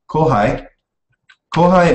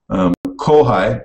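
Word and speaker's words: kōhai: So kohai. Now, you may notice right away that these are pronounced differently. Last one it was pronounced pai, and now it's pronounced hai. And that goes back to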